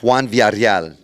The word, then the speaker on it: Juan Villareal: It's Juan Villareal, but I made it easy for my fans.